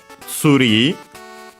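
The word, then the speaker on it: ツリー: the English word becomes, is pronounced as tsuri. Tsuri. Notice, first, well, the easier part is the ri at the end, just like in English.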